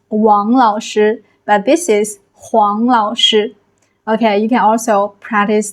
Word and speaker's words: 黄老师: This is Wáng Lǎoshī, but this is Huáng Lǎoshī.